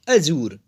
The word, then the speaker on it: adjure: इसका प्रोनाउंसिएशन है अजूर, ADJURE, अजूर।